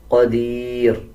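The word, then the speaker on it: قدير: क़ाफ को पुर यानी मोटा पढ़ा जाएगा। क़दीर जब वक़फ़ करेंगे नून को और नून के नीचे जो ज़ेर है इस छोटे नून को साइलेंट कर दिया जाएगा और रा को बारीक पढ़ा जाएगा।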